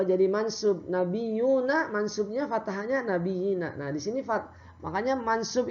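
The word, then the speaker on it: النبيين: Faba'athallahu nabiyina mubashirina wa mundirin. Nah, nabinya jangan lupa itu dibacanya panjang. Walaupun ya-nya satu ada tanda ya. Ya, di atasnya ada tanda ya, itu panjang ya.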